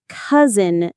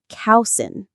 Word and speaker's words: cousin: And cousin is another tricky word. It's pronounced cousin, not cowsin.